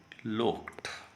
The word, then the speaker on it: looked: यहाँ पे the women लुक्ड। ED sound ट साउंड में परिवर्तित हो जाएगी। यह ब्रिटिश इंस्टीट्यूट प्रोनाउंसिएशन के अकॉर्डिंग है।